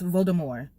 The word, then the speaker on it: Voldemort: I think the T at the end of Voldemort is silent, so it's Voldemort. Okay. It's not Voldemort, it's Voldemort. Ah.